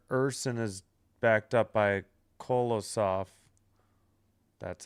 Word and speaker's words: Kolosov: Urson is backed up by Kolosov.